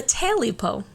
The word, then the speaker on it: Tailypo: t-a-i-l-y-p-o okay so yeah quite literally a taily Poe Taylor po yeah oh